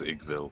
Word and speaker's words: Igwilv: I keep saying it as Igville because it looks kind of like that. Yeah, My bad. it's written Igwilv, but I don't like the way that sounds, so I put an extra syllable on it.